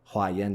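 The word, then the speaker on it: Huayan: school that I'm referring to is called the haen school haen is spelled in English h u a y a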